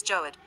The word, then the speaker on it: Jawad: meteorological department the cyclonic storm jawad pronounced as joad over west central bay